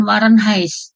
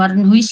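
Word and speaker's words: Warenhuis: yang ada di Medan Warren He bukan Warren his ya bacanya Warren he he itu rumah waren sebenarnya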